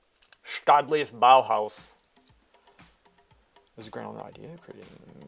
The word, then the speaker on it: Staatliches Bauhaus: Staatliches Bauhaus. Staatliches Bauhaus.